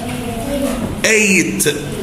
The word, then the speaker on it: ate: past simple اسمها ate، ate بتتنطق زي number 8، ما حدش يقول ات نقولها ايه؟ 8.